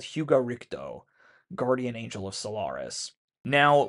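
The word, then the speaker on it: Rikudo: The way it's spelled, R-I-C-D-E-A-U, makes it look French, but it's not. It should more appropriately be spelled R-I-K-U-D-O, Richto. This is a reference to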